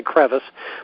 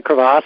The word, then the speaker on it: crevasse: you pronounced it correctly some people say crevasse but the words actually crevasse and that chorus and